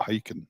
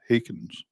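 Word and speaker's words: Heykens: Nell's put in, it's coming up on her, you know how they watch the subtitle things, and it said Hiking Serenade, not hiking, Hakens.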